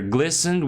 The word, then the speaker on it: glisten: Like here, glistened with tears, as you can see, yeah? And then the pronunciation is glisten.